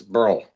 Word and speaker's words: Burrow: Well, see, Burrow is actually, if you pronounce it in Scottish, it's Burl. Burl.